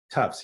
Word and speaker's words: Tufts: And you went to this Tufts. Is that how you pronounce it? Tufts, yes.